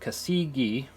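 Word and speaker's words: Casige: Uh it's pronounced casigi.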